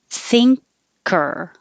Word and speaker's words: thinker: ah vladimir vladimir thinker when you have the word think you're actually saying thing because the back of your tongue goes very high thing and then you release it down and make a k thinker curl back for